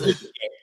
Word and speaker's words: Yukonje: Let's welcome the CEO herself, and she also a fashion designer, Yukonje. Am I saying it right? Yes. Hello, it's Yukon J. Yes. Yukonje.